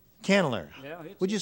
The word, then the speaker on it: Candler: Yeah, a little old place called Candler. Called what? Candler. Candler. Yeah. Would you spell that, please?